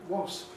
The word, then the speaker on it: wasp: And strange enough, even after S at the end of a word, wasp. A wasp is something, a wasp is something. It's not zero aspiration like in spin at the beginning of a syllable.